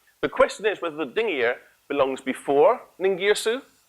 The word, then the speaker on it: Dingir: We pronounce it Dingir when it means God, and you'll hear me say it several times this evening.